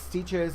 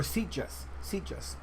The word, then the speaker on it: Sitges: I'm always mispronouncing that because it doesn't seem like Spanish to me. It seems like something else, like another language. But it's Stiges in Spain, or Sitges.